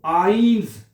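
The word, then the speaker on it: eins: इकट्ठा आएगा वहां पे आपने आई की आवाज प्रोनाउंस करनी है। इसी तरह एक लफज़ है आइंस एक यानी कि आइन इसको हमने आई पढ़ रहे हैं।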